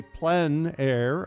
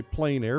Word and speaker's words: plein air: open air or outdoors the French say plein air others say plein air but it doesn't matter how you say it really it's just a